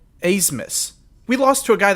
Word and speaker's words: Abmas: We were playing Oral Roberts, and their best player, his last name is like Abmas. He pronounces it Asmus.